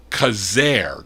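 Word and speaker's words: Quezergue: wardell and i was saying q-u-e-z-e-r-e-r-e-r-g-u-e well that's pronounced kazaire k-a-z-a-i-r that's i researched that today so i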